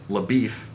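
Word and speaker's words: LaBoeuf: find those connections rooster cogburn is dead and labif yes that is how it's pronounced has left no trail to be found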